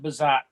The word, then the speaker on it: Bezout: So yeah, he was saying there's a lot of, do you pronounce it Bezout? Quite a bit in the UP. We pronounce it Bazat.